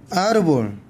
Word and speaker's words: árbol: árbol. 액센트 있는 쪽에다가 액센트를 주고 읽습니다. 자, 이건 무슨 뜻인지 저희는 몰라요.